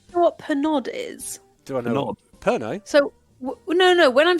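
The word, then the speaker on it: Pernod: is perod wait what it's spel but it's pronounced perno oh I'm thinking of no listen to me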